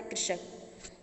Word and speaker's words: कृषक: कृषक बोला जाएगा, इसका उच्चारण किया जाएगा कृषक।